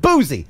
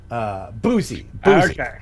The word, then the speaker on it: Boose: My wife finally digs your show, Ken, and my last name is pronounced Boozy. That's right. Please put a pronunciation guide in if you have a wacky name. Boozy.